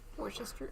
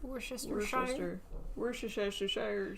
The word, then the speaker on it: Worcestershire: How to Worcester pronounce. sauce? Yeah. Worcestershire. Worcestershire.